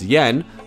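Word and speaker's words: Jaehn: it wasn't until DJ felix yen yes that's how you pronounce the name did a remix of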